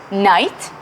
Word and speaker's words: knight: the first question is what is similarity of pronunciation in these two words night and honor we don't say the first letter that's exactly what